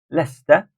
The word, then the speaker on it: Leicester: Piccadilly Circus first syllables number six Leicester Square Lester Leicester Square number seven the houses